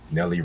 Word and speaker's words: Nelly: Nelly rhymes with Kelly.